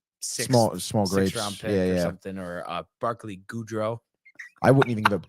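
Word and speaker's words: Gaudreau: Rosen was talking about I guess it's pronounced good goodro and then it's Johnny goodro so it's good Ro and goodro goodro yeah all just mention that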